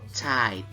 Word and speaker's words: Zeit: nanti kita seperti dalam kata tulisannya Zaid, nah itu bacanya adalah Zeit ya, ei bacanya ai.